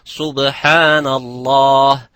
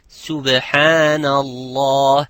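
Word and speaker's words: سبحان الله: Like some would say, I hear some of my students saying subhanallah, it's subhanallah. It is not sub, it's subhanallah.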